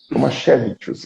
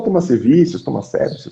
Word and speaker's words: Tomasevicius: É quase isso na pronúncia lituana, Tomaszewicz, mas como estamos no Brasil, pode falar Tomaszewicz, fique muito à vontade.